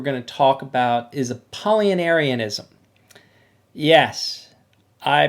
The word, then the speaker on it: Apollinarianism: heresies that we're going to talk about is a paulinarianism yes i pronounced that correctly and i've practiced it over and over again apollinarianism and it comes from a polyaris who was